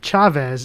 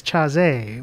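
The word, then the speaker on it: Chasez: both good people uh if you cared about jc you wouldn't call them chavez it's chazy with well no hey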